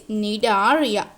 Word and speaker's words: Cnidaria: We don't say C is the silent letter, that is Cnidaria, not Cnidaria.